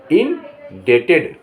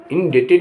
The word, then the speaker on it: indebted: INDEBTED इंडेटेड, इंडेटेड means ऋणी।